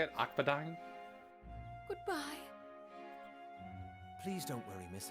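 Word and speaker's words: Akbadain: Akadine.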